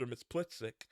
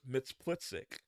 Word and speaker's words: Mxyzptlk: So there's, I'm pretty sure it's Mxyzptlk, but you'll hear it different ways sometimes.